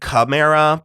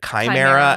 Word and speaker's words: chimera: I always said chimera, but they all pronounced it chimera. And I think that is one of those things where that is technically correct, but it feels like they're overdoing it.